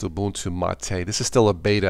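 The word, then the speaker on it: Ubuntu MATE: Cola boon to mate or it's pronounced a boon to Ma Tei this is still a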